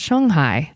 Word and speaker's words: Shanghai: and live in Shanghai, which is actually, I learned recently, pronounced Shanghai, I think. I'm doing that right? Yes, I am.